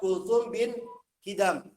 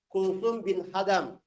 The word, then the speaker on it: Kulthum bin Hidam: Sahabat Kulthum bin Hidam. Kulthum bin Hidam. Santri lama mungkin pernah dengar nama ini, waktu itu ana bacanya Kulthum bin Hadam. Ya, itu keliru. Yang betul Kulthum bin Hidam.